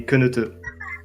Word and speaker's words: Keneteu: Is it Keneteu? Keneteu? It's actually Keneteu.